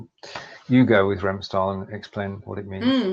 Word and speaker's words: Remstal: Remstal, I obviously mispronounced You go with Remstal and explain what it means, please.